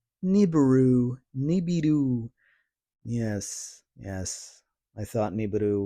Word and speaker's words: Nibiru: Nibberu. Nibberu. Nibiru.